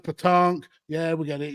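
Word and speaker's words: pétanque: It's like bulls, pronounced petanque.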